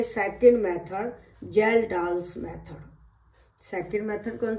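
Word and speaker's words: Kjeldahl's: अब आती है second method, जेल्डाल्स method. Second method कौन सी है, जेल्डाल्स मेथड, जिसकी स्पेलिंग है KJELDAHLS, जेल्डाल्स मेथड।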